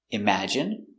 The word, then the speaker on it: imagine: Words ending in i can have different pronunciations. All of these have the sound in. Imagine, examine, engine, discipline, feminine, and masculine.